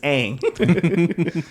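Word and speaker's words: Aang: Or the legend of I was about to say, is it pronounced? No, it's Ang.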